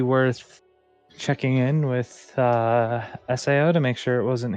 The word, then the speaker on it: SAO: have to remember it it's s AO not Sao like it's spelled e